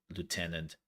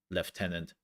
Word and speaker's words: lieutenant: Sergeant then you have Lieutenant leftenant ah whatever you want to pronounce it and keep in